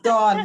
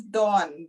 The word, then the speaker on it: Dawne: Yeah, it's Dawn. My name is Dawn. Dawne. Although it has an E, but it's pronounced Dawn. Okay. Like the morning dawn.